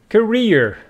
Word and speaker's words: career: else this one is career with the stress on the second syllable and this one is